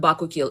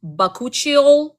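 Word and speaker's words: bakuchiol: um I add b it's not bakil it's bakuchial it has to have coochie in it bakuchial proper pronunciation so bakuchol is like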